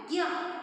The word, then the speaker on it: ज्ञ: में बताया था ना, क्योंकि कन्नड़ा में आप क्या करते हो, न्य कह के आप उच्चारण करते हो। इस अक्षर को देखिए, यहाँ पर इस अक्षर को न्य कहकर आप उच्चारण करते हो, लेकिन सही हिंदी में सही तरीके से उच्चारण कैसे होता है, ज्ञ, जैसे ज्ञान, विज्ञान, हाँ, परिज्ञान, हाँ, ये सभी क्या है, ज्ञ शब्द का उच्चारण है।